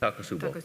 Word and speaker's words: Takotsubo: Hey, it's called stress cardiomyopathy, Takotsubo. That's how y'all pronounce it. Takotsubo, yeah.